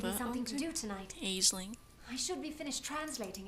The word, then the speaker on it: Aisling: well keep them coming the pronunciation for that name that i know of is ashley will give you something to do tonight aisling i should be finished